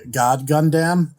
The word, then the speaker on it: God Gundam: all in one sentence first of all you mispronounced it it's actually god gundam and also i trust